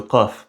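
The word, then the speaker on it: ق: Il s'agit du son q prononcé au fond de la gorge et il est prononcé g dans une grande partie du monde arabe, dans la péninsule arabique,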